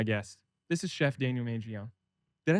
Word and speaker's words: Mangione: This is Chef Daniel Manion.